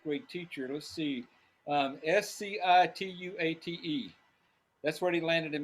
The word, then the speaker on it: Scituate: he landed in massachusetts i don't know how they would pronounce it in massachusetts scituate scituate that sounds right is that still there yeah situated that makes sense um anyway and he